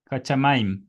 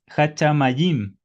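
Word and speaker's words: השמים: Sí, hachamaim un diptongo, no es jachamayim.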